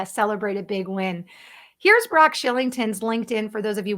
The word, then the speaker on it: Brock Shillington: like to know more about his brand, it's Brock Shillington. For those of you listening on the podcast, I'll spell that out. It's BROCK SHILLINGTON.